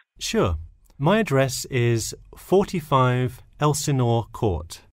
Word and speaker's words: Elsinore: My address is 45 Elsinore Court. I'm sorry, was that Eleanor? Could you spell that for me? Sure, it's Elsinore. E-L-S-I-N-O-R-E. Is this the number we should reach you at in the future?